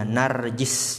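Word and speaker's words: نرجس: bifathi aaliri wahidati minamti waalii zadatun dan perkataan penulis contohnya najis ya itu cara bacanya bifathi awalihi dengan memfathahkan awalnya dan mengkasrahkan ketiganya narjis ya jim yang ketiga itu narjis wahid maka setiap salah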